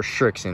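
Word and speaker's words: Srixon: We just found a 2-colored Shrikon golf ball, or Shrikson is how it's pronounced, but I like calling it Shrikon because that's better.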